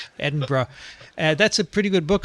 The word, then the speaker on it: Edinburgh: of edinburgh which is i've learned to say it properly correct vince good i said edinburgh for the longest time and a guy actually sent me an email from scotland he said please you're driving me crazy edinburgh that's a